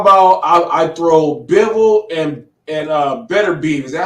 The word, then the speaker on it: Beterbiev: I've heard Beterbiev and Beterbiev. I've heard two.